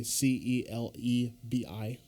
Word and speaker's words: Celebi: Like a holographic Celebi, CELEBI.